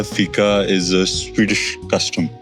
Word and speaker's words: Fika: But pronounced as Fika.